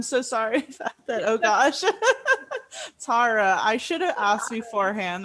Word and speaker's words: Tara: thank you yeah and my name is actually pronounced tara i'm so sorry that oh gosh tara i should have asked